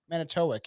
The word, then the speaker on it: Manitowoc: On one side is Wisconsin, and then there's Manitowoc. Is that how you say it? The one that you Yeah. asked, Not that one. Manitowoc. It's on the other side of Michigan in fucking Manitowoc? Manitowoc, yeah.